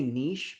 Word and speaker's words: niche: I like to say niche because I think that's the proper way of pronouncing it. But actually, according to Google, you can say niche or niche.